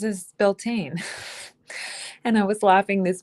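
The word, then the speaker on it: Beltane: But if you say the real pronunciation of Beltain, which is more like Balta, nobody knows what the heck you're talking about.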